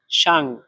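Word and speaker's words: 上: তারপরে দেখেন সাং, এর উপরে এখানে চাইনিজের 4 নাম্বার টোন ব্যবহার করা হয়েছে। 4 নাম্বার টোন উচ্চারণ করার নিয়ম হচ্ছে জোরে নিচে, মানে এটা জোরে একটু দ্রুতভাবে ডাইরেক্ট নিচের দিকে পড়বে। তাহলে এটার উচ্চারণ হবে এভাবে সাং, সাং।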